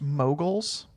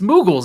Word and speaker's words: Moogles: it's pronounced moguls. Moguls? I don't know. How do I you know don't that? know. It's Moogles.